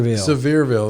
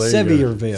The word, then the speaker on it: Sevierville: mountains Pigeon Forge smearville I think this is how you say severe Sevierville Sevierville severe you're going to Dollywood